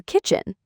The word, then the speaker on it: kitchen: So for kitchen, think of the K at the beginning of cat or car. It's that same sharp, clear sound. Kitchen. Yeah, start with a really firm K sound. Make sure your tongue is pressed up against the back of the roof of your mouth and then release it with a burst of air.